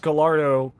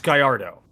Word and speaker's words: Gallardo: pronounced by the way if you thought it was pronounced gardo it's Gallardo um but uh the